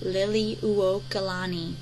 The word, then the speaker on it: Liliuokalani: It's a lot of syllables here, but it's Liliuokalani, and it's pronounced Liliuokalani.